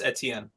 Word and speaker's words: Etienne: you to i need you to uh to pronounce that's travis etienne okay so travis etienne uh ramifications for both